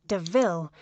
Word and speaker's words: De Ville: Horace steals Estella a new car called a Panther de Ville, and points out the similarity to the word devil, though it's pronounced DeVille.